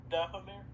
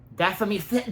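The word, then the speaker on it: Dathomir: Yeah, Anchorman, I don't suppose you know you know how the home planet of Ventress is specifically pronounced, do you? Datamir. Datamir. Datamir.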